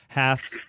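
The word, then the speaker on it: Hass: Haas that's totally incorrect the guy's last name was H has like your rear end that's how you can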